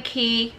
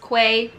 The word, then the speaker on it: Quay: haul showing you guys my sunglasses collection featuring key australia it looks like it's pronounced quay but it's pronounced ki okay so i received a whole bunch of